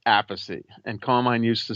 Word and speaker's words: Appice: because my father said apathy and carmine used to say apathy and then when he played with Rod Stewart rod pronounced it a piece and he changed it to a piece we have a battle